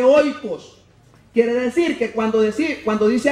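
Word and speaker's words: οἶκος: Ya dijimos que se dice, ¿cómo se dice casa en el idioma griego? Dijimos, se dice oikos.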